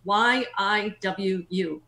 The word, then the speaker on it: Yiwu: That's spelled Y-I-W-U, Yiwu.